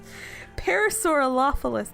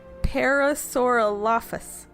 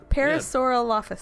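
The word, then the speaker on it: Parasaurolophus: Parasaur par Parasaurophilus. No, Parasaurop. Parasauralophus. Parasauralophus. Parasauralophus.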